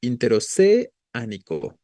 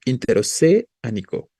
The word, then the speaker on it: interoceánico: Ahí, si lo tildamos sobre la E, diríamos interoceánico, ¿no? Interoceánico, pero más bien es interoceánico. Nico, ¿no? La fuerza va sobre la A, no sobre la E.